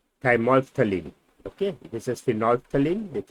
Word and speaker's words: thymolphthalein: So this is pronounced as thymolphthalein.